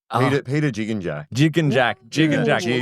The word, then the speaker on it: Gigengack: Peter Gigengack? Wrong. Oh. Peter Gigengack. Gigengack. Like a jigsaw.